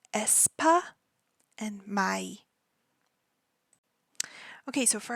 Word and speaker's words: aespa: as I said before this group is called espa Esa espa and their fandom is going to be pronounced the same way in English so it's